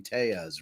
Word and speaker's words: Telles: So everyone's been saying his name wrong the whole trial? Yeah, because the first question that the prosecutor on cross-examination asked him, he's like, "You pronounce your name Tejas, right?" And he said, "Yes." So how does his own lawyer?